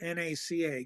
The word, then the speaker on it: NACA: and by the way it's always NACA not you never you never pronounce it as a word okay and you once it flips never pronounce the letters okay it's always NASA right so there it's